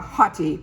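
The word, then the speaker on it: haughty: called dream crave rose and uh hottie but it's spelled h-a-u-g-h-t-y look how beautiful these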